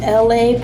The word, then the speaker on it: ELAY: So my name is ELAY, pronounced like LA, like the city.